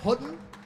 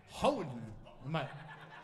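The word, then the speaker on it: Houghton: By the way, did I say it right, Hutton? Say it again. But there's no T, right? Hutton.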